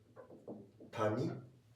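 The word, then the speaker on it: 谷: And if you pronounce actually in alphabet, they're written in the same way. Uhhuh. Uh valley which is tani tani tani is valley.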